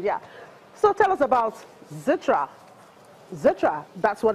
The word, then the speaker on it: Xetra: for Stock Exchange yeah so tell us about Xetra Xetra that's what it's called right what makes today special yeah you pronounce it correctly it's called Sitra it started twenty years ago and pretty much